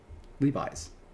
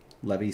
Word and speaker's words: Levi: Did you How did you pronounce it at first? Levy Strauss and Co. Pretty sure that's how it's pronounced. It's Levi, isn't it? Levi Strauss. Has it always been that?